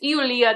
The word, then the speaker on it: Ioulia: yes because that's it's eia that's how you say Julia in Greek but by the way